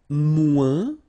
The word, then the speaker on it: moins: And then, moins, same thing here. Remember, we don't pronounce the final S.